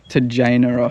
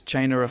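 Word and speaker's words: Tjaynera: I think it's something like to Jana Falls or the correct pronunciation is Chainera Falls.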